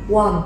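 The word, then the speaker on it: 원: Nó được bắt nguồn từ âm u kết hợp với âm o và thêm chữ niên thì mình sẽ đọc là u o wo won.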